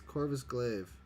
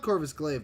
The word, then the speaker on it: Corvus Glaive: I said it right. It's Corvus Glaive. No, it's not Corvus Glaive.